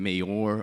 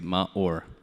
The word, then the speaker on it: Maur: back then and it's much easier than saying Mayor or Mayor because it's not how you pronounce my name. My name is Maur.